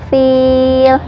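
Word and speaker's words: فيل: Bi ashabil fil. Fil ini dibaca panjang 2, 4 atau 6 harokat, terserah ya, asal konsisten dari awal sampai akhir. Kalau mau 2 semua, kalau mau 4 semua, kalau mau 6 harokat semuanya ya.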